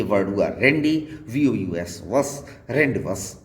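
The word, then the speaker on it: rendezvous: हुआ रेंडी, VOUS वस, रेंडवस word में Z साइलेंट होता है।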